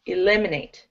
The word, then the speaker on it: eliminate: Eliminate. You emphasize the second syllable.